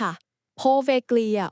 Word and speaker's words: Poveglia: เกาะ โพเวก ครับ ใช่ ค่ะ โพเวก ออก เสียง ให้ ถูก ต้อง นะ คะ ครับ โพเวก เกาะ